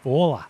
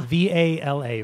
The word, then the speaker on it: VALA: Vola. Vola. Vola. V-A-L-A. Vala.